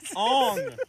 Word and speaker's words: Aang: Well, first of Oh, all, his let's name's also not Aang in pronounce that. it- His name is Ong. Yeah, I was gonna say let's Oh, also pronounce shit. it Because that's the more appropriate way to speak it in an Asian language, despite the fact that